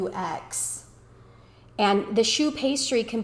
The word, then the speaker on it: choux: Cream puffs actually are a choux pastry that's spelled Choux.